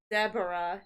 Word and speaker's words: zebra: Most people pronounce zebra incorrectly. It's zebra, not zebra.